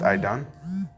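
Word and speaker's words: עדן: The word Eden in the Hebrew is pronounced I don, um which means paradise because it looks beautiful.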